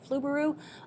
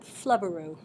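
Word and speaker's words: Flubaroo: people on these webinars they pronounce it fluberu others pronounce it flubberu I'm going to go with fluoro f-l-u-b-a-r-o-o fluberu f-l-u-b-a-r-o-o and click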